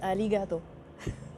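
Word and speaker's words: ありがとう: je vais bienigato arigato ça veut dire de rien alors en japonais tu prononces jamais le r en fait ah ça s'écrit har gate ouis mais on dit aligato les r se prononcent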